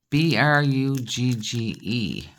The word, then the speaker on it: Brugge: in um Belgium called buuga b r u g g e but you might hear it pronounced Brugge b r u g that's the French pronunciation for said City because yep one city